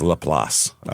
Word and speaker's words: LaPlace: but it's Laplace cuz they can pronounce nothing in Louisiana the way it looks